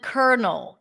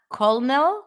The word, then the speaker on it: colonel: else um Kel lieutenant colonel colonel Lieutenant Colonel it's not colel there is no l there Colonel debt that's another